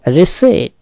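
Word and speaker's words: receipt: হচ্ছে কারণ হেতু দোষ রিসেট এইটাও একটা সাইলেন্ট ওয়ার্ড খেয়াল করতে হবে পি এর উচ্চারণ হবে না রিসিট মানে হচ্ছে রশিদ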